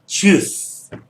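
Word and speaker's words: Tschüss: और उसके बाद एसेट है, वैसे आजकल वो डबल एस से ज़्यादा लिखते हैं, लेकिन बहरहाल वो हो जाएगा च्यूस। So this is the right pronunciation for च्यूस।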